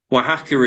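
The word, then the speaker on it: Oaxaca: CA and it's like how on Earth you pronounce that but W hacker is is well known as a um a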